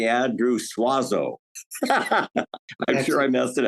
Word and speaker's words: Suozzo: going to say Andrew suazo I'm sure I messed it out that's exactly how my family has anglicized it if we were Italian